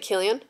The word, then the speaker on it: Cillian: Cillian Murphy? Isn't it Killian?